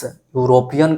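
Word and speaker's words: European: ए इसलिए होता है क्योंकि इस यूरोपियन का जो प्रोनाउंसिएशन है ये कॉन्सोनेंट साउंड य से शुरू हुआ है।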